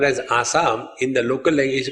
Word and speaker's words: Assam: In Assam, Sa is pronounced as Ha. What we call as Assam, in the local language is called Ahom, not Assam.